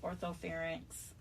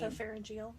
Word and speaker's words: orthopharyngeal: And there's something called, I'm going to say it wrong, a retronasal orthopharynx. It's some long term, which basically means... Orthopharyngeal. Thank you.